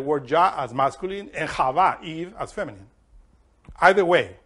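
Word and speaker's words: חוה: Eve in Hebrew is Hava.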